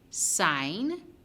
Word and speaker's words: sign: we have the h sine the g is silent h the e is